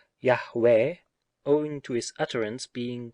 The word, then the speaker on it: Yahweh: him should tie him the divine name you'd hey Wow hey the proper pronunciation of which seems to be Yahweh owing to his utterance